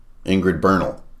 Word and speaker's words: Ingrid Bernal: Ingrid Bernal rhymes with journal.